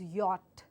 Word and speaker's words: yacht: speak it out so this particular word the pronunciation uh as for the letter it could be yed but unfortunately English is not a letter language and hence it takes the sounds as part of the uh pronunciation and that's why this word is pronounced as yacht so once again it's yacht something very close by this something very close by so it's yacht but not a y